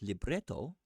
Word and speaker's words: libretto: Unlike most opera composers, Wagner wrote in both libretto and the music for each of his stage works.